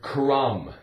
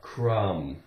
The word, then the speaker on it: crumb: how about the word crumb CR crook crumb um with a silent be a game we have um like a numb but crumb now what is a